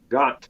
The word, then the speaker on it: ghat: Yeah, they have the word got, like a gat. We call it gat. Got. Right. G-H-A-T, got.